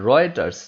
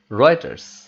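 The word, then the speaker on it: Reuters: একটু লক্ষ্য করো, উচ্চারণটা হবে রয়টার্স, যদিও স্পেলিং একটু ডিফারেন্ট, বাট এটাকে উচ্চারণ করা হবে রয়টার্স।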